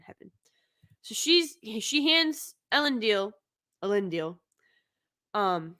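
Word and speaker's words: Elendil: so she's she hands ellen deal a lindeal um how do they say it allen deal that's how they say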